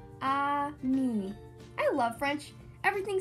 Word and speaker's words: ami: say friend in french the word is amin my mom says you say it like this ah me i love french everything